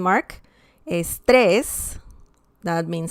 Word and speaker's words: estrés: For example, estrés, estrés. And we can see that we need an accent mark because the word ends in S and there's some stress on the last syllable, okay?